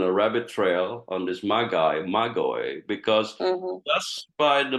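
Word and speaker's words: μάγοι: So in the Greek, it's actually pronounced as Magoi, Magoi, Magoi, Magoi.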